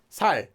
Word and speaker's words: 살: You tense your voice. So the regular, just say it like you regularly would say this one normally. 살, 살, 살, 살. Easy. S, s. More tense. 살, 살. Slightly longer sound.